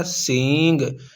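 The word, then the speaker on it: سینگ: और ये गाफ है सबसे पहले सीन उसके बाद या उसके बाद नून उसके बाद गाफ तो ये बन जाएगा सींग यानी इसमें नून क्या है साइलेंट ऐसे ही ये पै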